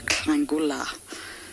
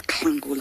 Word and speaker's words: Nhlangula: Beach girl, you are asking how old is Klangula. I'm going to spell it for you. Nhlangula. But it's just a bit like Klalamba.